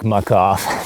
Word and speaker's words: Muc-Off: I like Muc-Off because the name rhymes with off, and that makes people uncomfortable.